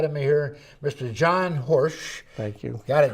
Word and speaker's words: Horejsi: John Horsch. Thank you. Got it Correct. right, John? That's correct. Rhymes with Yes.